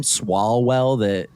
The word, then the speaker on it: Swalwell: Swalwell. It's a silent wall. Swalwell. So it's swole.